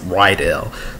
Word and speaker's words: Rydell: I called him Riddell last week, but it's actually pronounced Rydell.